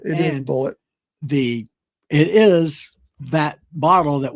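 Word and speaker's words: Bulleit: Yeah, and I always thought it was pronounced Boulet, but in the movie, it's pronounced Bullet. It is Bullet.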